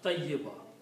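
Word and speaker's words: طيبة: When we stop, we pronounce tayyiba.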